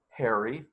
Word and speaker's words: Herre: It's pronounced Harry. Funny spelling on that.